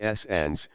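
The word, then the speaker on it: St Agnes: S. Agnes Head, pronounced S. Ans, presumably takes its name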